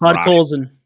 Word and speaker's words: Podkolzin: Podkolzin. Yeah, it's Podkolzin.